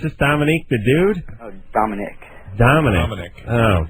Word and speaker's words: Dominic: Oh, Dominic. Dominic. Oh. Is it spelled with a Q-U-E? Yeah. Is it? Oh, okay. That's not how you spell it, is it? Is it Dominic? No, I-C-K.